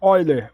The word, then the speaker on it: Euler: Euler porque é alemão, então a gente pronuncia Euler, o E.